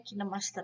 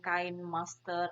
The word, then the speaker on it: KineMaster: untuk smartphone, contohnya KineMaster, di sini bacanya KineMaster ya, bukan Kain Master atau apa, KineMaster. Tapi di apa tuh namanya kata penciptanya tuh bacanya KineMaster gitu.